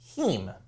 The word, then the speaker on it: heme: A heme. It's like meme. Rhymes with meme.